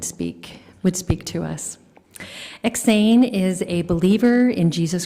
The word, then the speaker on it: EksAyn: it or spell it you spell eks not to capital a right in the middle of my name they say it Swedish I gotta tell you